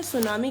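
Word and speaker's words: tsunami: आज हम पढ़ने वाले हैं सुनामी के बारे में। अब आप सोच रहे होंगे टी से लिखा है, मैम सुनामी पढ़ रही है। अरे भाई, इसमें टी साइलेंट होता है।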